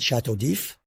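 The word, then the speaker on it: Château d'If: Of course, we call it Chateau d'If. The D at the beginning is not pronounced.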